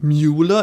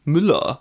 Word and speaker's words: Müller: It's not Mueller, it's Müller. Get in, Mr.